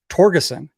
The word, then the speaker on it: Torgerson: His name's Torgerson.